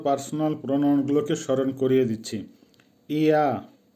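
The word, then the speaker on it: я: ইয়া, উচ্চারণ হবে ইয়া, বাংলা হবে আমি।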